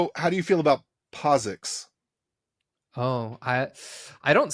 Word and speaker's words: POSIX: not I don't know I feel like the i in posix should make the O say its name posix like that's how I learned it now no I agree